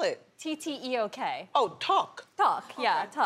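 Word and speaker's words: tteok: rice cakes right how do you say it duck how do you spell it t-t-e-o-k oh talk talk how are you yeah okay exactly now what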